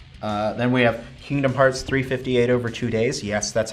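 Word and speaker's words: 358/2 Days: supposed to be but the way you actually pronounce it is over two days I'm like it's not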